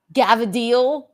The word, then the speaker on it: Cavatelli: Cavatelli is not what? Gavadil. Gavadil is how you say Cavatelli.